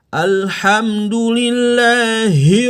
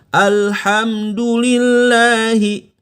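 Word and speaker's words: الحمد لله: Ya, jadi nggak boleh mengucapkan Alhamdulillahi. Itu berlebihan ya. Yang tepat adalah Alhamdulillahi. Persis Anda tadi bilang, Mas Hari, hari ini hujan ya. Kita nggak bilang juga dengan pengucapan di dada, Mas Hari, hari ini hujan ya. Nggak gitu kan? Tapi biasa saja, Mas Hari, hari ini hujan ya. Itu pakai H yang pangkal tenggorokan.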